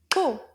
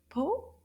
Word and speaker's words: pot: Po. Correct. Une syllabe. Po. Can you find the O sound in the word po? Oui, bravo. And remember, the T is silent.